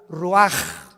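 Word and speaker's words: רוּחַ: Así como suena, se pronuncia la CH en hebreo como J, Ruach.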